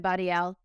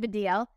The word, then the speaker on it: Baddiel: um thank you for stop saying oh sorry for deal David's the DL sorry it's my American accent that's watching everything but yeah Davido okay I've been just saying it wrong in my head David